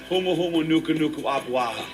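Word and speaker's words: humuhumunukunukuāpuaʻa: You guys know how to pronounce it? Yeah. Go ahead, no, yeah? Yeah. Humu humu nuku nuku apuaha.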